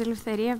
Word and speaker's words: Eleftheria: hi good morning my name is Eleftheria but I know it can be a little bit difficult we pronunciate it so you can call me